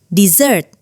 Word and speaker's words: dessert: Kalau kamu pengen makan manis, bilangnya dessert.